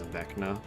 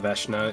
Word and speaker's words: Veshna: wanting to say your last name is Vecna. But that's not No, how it's pronounced. it's Veshna. It's Veshna. yeah, it's specifically I took